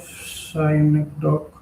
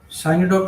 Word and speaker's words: synecdoche: Mm, Pick an example of synecdoche from the poem has given me my heart a change of mood, the way a crow shook on down on me.